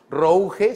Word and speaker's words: Rouge: Es rojo en francés. Rouge se escribe Rush. Como Molling Rouge.